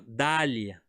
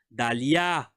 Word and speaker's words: Dalia: Eu não falo Dália, eu falo Dalia. Eu não falo Marco, Marco, Pedro, Leila, Aiko. Ok? A última sílaba.